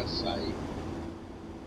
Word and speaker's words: açaí: Fala, não, porque eu não sei te explicar, mas que é açaí, a pronúncia é açaí.